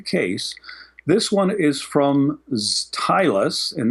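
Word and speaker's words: Zytlus: This one is from Tylus and that's spelled zed or z depending on where you're from. Z Y T L U S. Stylus. It sounds like it sounds like stylus with a zed.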